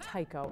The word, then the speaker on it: taiko: uh teamwork and a sense of community it's pronounced Tao and in ragi it's spelled t a i